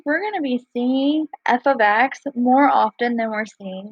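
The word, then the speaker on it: f(x): this is pronounced as f of x so whatever letter's on the outside is that letter so in this case it's f the parentheses is of and then whatever is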